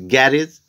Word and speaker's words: garage: task Hindi meaning sunati next word is garage correct pronunciation is Garris English meaning Workshop Hindi